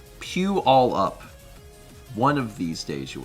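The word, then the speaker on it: Puyallup: It's pronounced pew all up.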